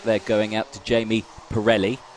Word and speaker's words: Pirelli: going out to Jamie Pirelli Pirelli sorry okay well I apologize Jamie because I pronounced your name wrong for the entirety of 2022. like the tire uh okay okay he's